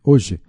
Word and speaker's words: hoje: A letra H em hoje tem som próprio? Não, né? Não tem, né? O H não tem som, é mudo.